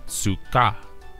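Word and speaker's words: סֻכָּה: out as saka and is phonetically pronounced as sukkah this hebrew term translates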